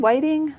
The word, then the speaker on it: Whiting: that's how it's pronounced witting Whiting Whiting might be Whiting okay we have a Whiting Indiana nearby so I'm going with Whiting okay all right I'll